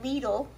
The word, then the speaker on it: Lidl: marinara that i got from lidl rhymes with needle do you hear my